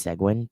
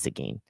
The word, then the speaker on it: Seguin: Sagine, which looks like it should be pronounced Seguin, but it's not. It's Sagine.